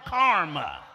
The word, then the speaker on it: karma: No, not comma, not a punctuation, karma. K-A-R-M-A.